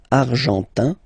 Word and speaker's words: argentin: Argentin, in, gives you this un sound. Argentin, okay?